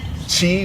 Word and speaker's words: Qi: Chi, which is spelled QI, means energy.